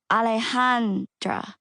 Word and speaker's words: Alejandra: For the record, I just pronounce it Alejandra, but I usually tell people to call me. I say it the easy gringo way.